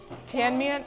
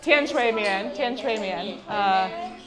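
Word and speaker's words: 甜水面: tian mian, how do you say it? Tian shui mian.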